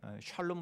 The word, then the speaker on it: 샬롬: 있었던 그 날입니다 아 성경은 살롱으로 되어 있는데 우리는 샬롬 이 입에 익어 있기 때문에 샬롬 으로 제가 이후로는 발음을 하겠습니다 2호 와 샬롬 이